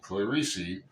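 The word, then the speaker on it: Clarice: about clari Le Spector and that's how you pronounce her name clari because that's how she pronounced it it's in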